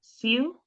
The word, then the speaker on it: Siew: And then we have Sayu. Is that how you pronounce it? Siu? Yes, hi. I always say it's like view, but with an S.